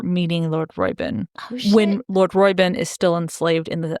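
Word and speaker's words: Roiben: called lord royben Robin how do you say his name royin royin at least the audio book and so Lord royin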